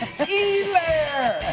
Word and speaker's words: Helaire: It's Helaire. Come on. I know the H is silent, but you got to get the next letter right.